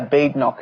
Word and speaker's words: Badenoch: Yeah, Badenoch is how how her surname is pronounced.